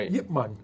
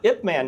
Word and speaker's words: Ip Man: Everybody started saying Ip instead of Yip. Yeah. Yip Man. No, I've always known him as Yip Man. Yeah. So have I. Yeah. So I when the movies came out, I was like, why is it Ip Man now?